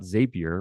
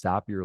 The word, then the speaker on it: Zapier: And then we're going to show, number two, we're going to show Zapier. It's pronounced Zapier, not Zapier. We know that because the founder told us it's Zapier like happier.